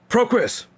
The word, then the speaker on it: Pro Chris: Pro Chris. Okay. That's how they talk about, like, 2002 UM Chris over there and Ignorant Rizzy's streaming all that. It's not Chris, it's Pro Chris.